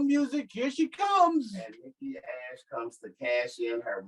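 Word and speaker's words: Nikki A.S.H.: Quit calling her Nikki Ash. She's what... not Nikki Ash. It's Nikki ASH. So you're just supposed to spell it? Yep. I guess because people kept saying Nikki Ass.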